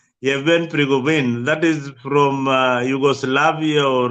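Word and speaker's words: Yevgeny Prigozhin: How do you pronounce this name? Yeah. Yevhen Prigozhin. Yevhen Prigozhin.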